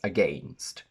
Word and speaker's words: against: AI only in said and against, which can also be pronounced as against.